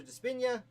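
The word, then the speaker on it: DiSpigna: Despina. The G is silent. I've been pronouncing his name wrong for several years.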